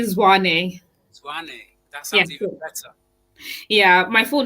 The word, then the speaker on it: Zwane: out very well um i said it's actually zwani yeah my full name